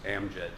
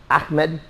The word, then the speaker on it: Amjad: The J is pronounced Amjad. Okay, but you have a J. Like my buddy, his name is A-H-M-E-D. Ahmed. And yours is A? M-J-E-D. So that's not the same as Ahmed.